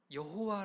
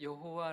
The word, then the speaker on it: 여호와: 가지 말을 다 들어보셨죠 왜 어떨 때는 여호와 라고 하고 어떨 때는 야외 라고 할까요 구약성경은 히브리어 성경은 모음이 생략된 채 자 으로만 기록이 되어 있습니다 모음은 외워서 그 자음의 발음 을 그렇게 읽게 기록이 되었었는데요 그런데 히브리어 성경을 읽는 유대인들이 하나님의 이름이 나오면 그 이름이 너무 너무 겸 해롭기 때문에 그 이름을 부를 수 없어요 그래서 히브리어로 나의 주 라는 뜻의 아도나이 라고